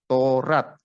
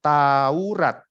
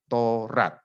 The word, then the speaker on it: Torat: ada tulisan hukum torat itu dibacanya torat dua kata ya Jadi bukan Taurat bukan tiga suku kata tapi dua suku kata torat suku Benjamin orang berani